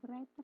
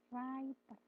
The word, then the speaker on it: writer: arsitek and writer nah bacanya bukan writer Mbak tapi W-nya dihilangkan writer W-nya jangan dituliskan writer terus itu suaranya jadi